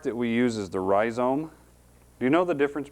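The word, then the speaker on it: rhizome: terrible the part that we use is the ryome do you know the difference between a root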